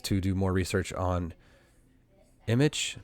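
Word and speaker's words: Immich: Future research to do um on my list is to do more research on image. Kind of sounds like the word image.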